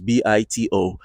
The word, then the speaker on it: BITO: It's a Bito or Bito, however you want to pronounce it, but it's Bito. It's a it's a Bitcoin ETF futures, kind of.